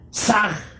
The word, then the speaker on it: Sah: Saj se escribe con las letras S-A-H. La H suena siempre como J.